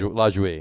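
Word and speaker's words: Lajoie: Isn't it LaJouie? LaJouie, is that how you say it? LaJouie, yeah.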